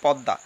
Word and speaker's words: পদ্মা: এই দ এর সাথে ম ফলা যুক্ত হয়েছে পদ্মা এর উচ্চারণটা হবে প দ আকার চন্দ্রবিন্দ্র একই সাথে